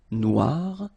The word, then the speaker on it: noir: don't pronounce it okay so phonetically it is exactly the same Noir Noir Okay g don't pronounce